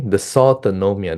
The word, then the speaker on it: dysautonomia: Okay, dysautonomia, that's how you pronounce it, in COVID-19.